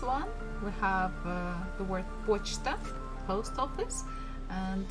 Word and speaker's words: почта: And the last one we have the word почта, post office, and here stress falls on O, that's why we have pronounced it as it is.